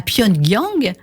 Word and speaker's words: Pyongyang: infirmière cohérenne coréenne pardon à Pione Giang ça se prononce comme ça pendant gang voilà et en